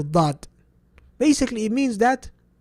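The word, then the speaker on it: ض: Is 1 letter, the letter dad. Basically, it means that it literally takes up all of your mouth when you're pronouncing it.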